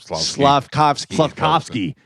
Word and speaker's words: Slavkovsky: Slavkovsky.